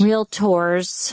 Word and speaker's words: realtor: Everybody says realtors. It's not realtors. Real tours. Correct.